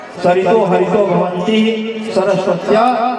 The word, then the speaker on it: सरस्वती: उच्चारणिया सरितो हरितो भवंती सरस्वत्या हरस्वत्या। कहा कि वेदों की यह परंपरा है कि सकार के स्थान पर हकार का उच्चारण होता है, सरस्वती को हरस्वती भी कह करके पुकारा जाता है और सरित को हरित